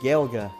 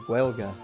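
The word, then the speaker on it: Gaeilge: However, in standard Irish it would be Gailga which is close to the connect pronunciation which is Gwelga.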